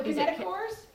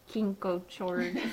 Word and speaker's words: kinetochores: on to the centromeres oh the kinetochores kinetic chords yeah i was kinko chores first yeah it was really bad i know isn't that